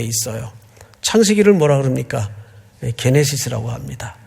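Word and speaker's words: γένεσις: 게네시스라고 합니다. 또 어떤 분은 발음을 제네시스 하는데 뭐 그래도 그렇게 틀린 발음은 아닌데 뭐 자동차 이름 같아가지고 원래 그냥 게네시스로 우리가 읽습니다.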